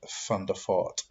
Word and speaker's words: Van der Vaart: It's like Van der Vaart is Van der Fort.